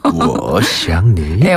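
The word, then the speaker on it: 我想你: 워샹니네 여전히 느끼 하군요 워시앙니네 워시앙니 맞아요 잘하셨어요 저희 아내가 뭐라는 거냐고 보고 싶어요 이런 뜻이잖아요 그렇죠 워시앙니네 아내 분한테 자주 말씀해 주세요 그래요 워시앙니 가운데를 된소리로 발음하면 큰일납니다 워시앙 님 부드럽게 해주시고요 맞습니다 자 이렇게 저희가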